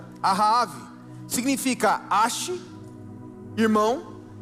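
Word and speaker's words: אחאב: O nome Acabe vem do hebraico, a pronúncia é Ahave, significa Ashi, irmão, e Ave, pai, ou seja, irmão do meu pai.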